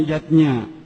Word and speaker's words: yajna: Yatnya tulisannya yajna ayah bunda, tapi membacanya yatnya.